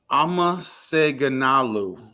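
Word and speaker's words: አመሰግናለሁ: And she said, Amaseganalu. And she emphasized the Amaseganalu. She emphasized the lu is a form of like respect.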